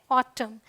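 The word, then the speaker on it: autumn: Rule number 2 क्या कहता है, अगर एन के पहले एम आए, मतलब एम फिर एन आए, तो आपका जो एन है वो साइलेंट होगा।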